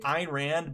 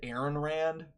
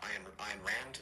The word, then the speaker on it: Ayn Rand: I think he also totally said Ayn Rand's name wrong. Like, he said Ayn Rand, but he said Aaron Rand. Or On Rand, I think is what he said.